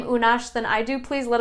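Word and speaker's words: Unax: it would be like, whoa, how do you pronounce that? It's Unash, and this is a completely new name to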